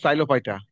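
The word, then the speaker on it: Psilophyta: তাহলে একটা হলো সাইলোফাইটা, এখানে পি উচ্চারণ হয় না, সাইলোফাইটাল।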